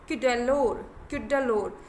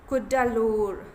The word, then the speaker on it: Cuddalore: Along India's क्यूडालोर, sorry इसका pronunciation थोड़ा सा आपको समझना है इस प्लेस का। इसका प्रोनाउंसिएशन है कुडालोर। Okay, along India's Cuddalore coast,